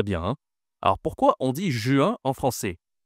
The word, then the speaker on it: juin: Le 6e mois de l'année, c'est Attention, la prononciation est difficile ici. J1 J1 juin Alors, on a pas un ou mais un u. Ju, d'accord ? Et ici, une nasale.